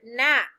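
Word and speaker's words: gnat: next to number three write the word nat that's also behind me let's spell that g-n-a-t your paper should look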